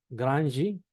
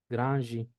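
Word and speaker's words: grande: Uno, cuando va al final de palabra con E, no acentuada o cuando está sola, ¿sí? Se pronuncia J, ¿sí? Voy a ponerlo así, J, ¿sí? Por ejemplo, en la palabra granji, granji, ¿sí?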